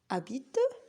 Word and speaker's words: habite: On a habite et au hôpital. On n'entend rien, on n'entend que ek, a et o. Alors, ce qu'on remarque, c'est que la lettre H est une lettre muette, c'est-à-dire une lettre qu'on ne prononce pas.